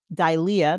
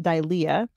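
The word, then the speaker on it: δειλία: The first is dilia, that's how it's pronounced, dilia, meaning timidity, fearfulness, and cowardice.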